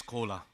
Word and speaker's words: Kola: Another collaboration is coming because my name is Kola everybody can understand this is exactly same pronunciation of Coca-Cola.